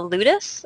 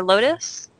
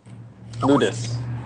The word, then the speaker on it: Ludus: little bit about, and I don't want to mispronounce this, the Ludus or Lotus? Ludus, right.